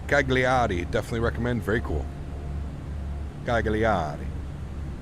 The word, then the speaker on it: Cagliari: Cagliari. You have to say it like a proper Italian, right? Even though I'm probably butchering it.